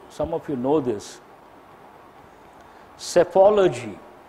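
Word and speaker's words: psephology: of you know this self ology P silent s s-- apology PSE pho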